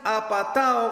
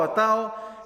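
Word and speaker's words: ἀπατάω: El verbo en griego es apatao, con acento en la O, apatao, que Santiago usa aquí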